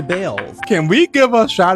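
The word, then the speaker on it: Baals: Some people think the Harry Balls Government Center would make Fort Wayne the butt of jokes. After all, the family did change the pronunciation of their last name from Balls to Bales.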